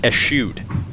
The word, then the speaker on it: eschewed: trusty putter sorry folks I believe that's actually pronounced s shoot it's a safe play